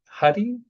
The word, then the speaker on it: Huie: And, before I give the proper intro to you, can you remind me your last name is pronounced Huddy. Is that correct?